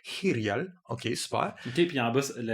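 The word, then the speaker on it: Hiryal: En Irial, ça se prononce différemment. C'est Irial.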